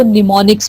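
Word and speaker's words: mnemonics: हम निमोनिक कहते हैं यह जो वर्ड है एन एम ओ एन अब इसको आप इसमें हम साइलेंट है आपने इसको निमोनिक्स पढ़ना है तो यह वृक्ष होते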